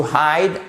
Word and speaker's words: hid: Le I devient un I court. OK? To hide, hid, hidden.